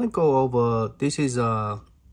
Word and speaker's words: Miyoo: I want to go over, this is Miyoo. I guess I've been pronouncing Milo or Mi is Miyoo. I guess Y-O-E. I guess you pronounce it as a U.